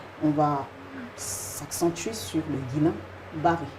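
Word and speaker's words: Guillain-Barré: On va s'accentuer sur le guilin bar. J'espère déjà que je prononce bien le nom. Oui, bien sûr. Guilen Baré, c'est ça.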